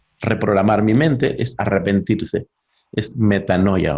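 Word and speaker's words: μετάνοια: mi mente es arrepentirse metanoia o betania como dice la pronunciación griegas betania pero no será muy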